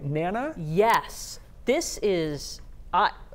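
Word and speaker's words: Nanna: Am I pronouncing this right? Nana?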